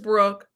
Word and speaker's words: Brooke: It's not Brooks. It's just Brooke.